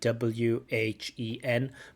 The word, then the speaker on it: when: love um um when so there's no h sound in there I know when we write it we write w h en but when we pronounce we say when there's no h there I in in effort